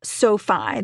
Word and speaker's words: SoFi: online lenders the first one I recommend is Sofi that's spelled s so fi this is a great